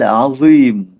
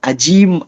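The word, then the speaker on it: عظيم: Banyak yang bacanya itu bukan pakai ain, tapi malah pakai hamzah a. Lalu vo-nya dia bacanya pakai z, pakai zai, atau pakai zal. Contohnya gini, Subhana rabbiyal azim, azim. Ada juga yang bacanya Subhana rabbiyal ajim, ajim kayak orang Sunda gitu ya, nggak bisa ngomong Z.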